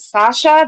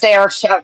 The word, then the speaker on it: Saoirse: Is it Sasha? They're like, no, it's pronounced Saoirse.